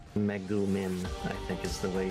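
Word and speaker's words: Megumin: Meumin, I think is the way you're supposed to pronounce it.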